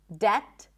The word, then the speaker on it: debt: Debt, doubt, subtle.